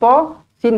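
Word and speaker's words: طس: Kena baca dengan 2 harakat lah. Tosin. Jangan kita baca tosin. Dia bukan 1 harakat, dia 2 harakat.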